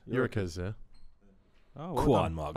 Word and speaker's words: Gyökeres: Eurocase. Yeah. Good. Eurocase. Good. I watched him at Coventry. He was good. Yeah. He was too good for that league. Soft G. Eurocase. Gyökeres, yeah.